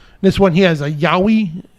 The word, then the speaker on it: Yowie: one he has a Yowie a yoi is that how you pronounce it yeah that's correct that's uh if I'm